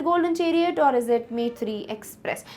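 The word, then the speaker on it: Maitree: कराया था मैंने कि मैत्री को you have to like pronounce it इन अ बंगाली अ वे ठीक है क्योंकि मेर को तो नहीं आता है वैसे बट यू can like it's मोथी ऐसे करके कुछ नाम है ठीक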